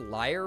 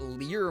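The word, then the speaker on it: lyre: Y R E that I've heard it said liar recently. I've said that lear my whole Am I wrong?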